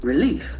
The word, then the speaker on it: relief: relief a relief cancer the action falls on the second syllable relief relief it's a feeling of